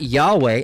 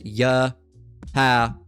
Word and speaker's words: Yahweh: Okay, that's Yahawah, not Yahweh. All right, mind you, Yahweh doesn't even fit the um uh the the pronunciation um rule. All right, that would be Yahweh. No, it's Yahwa.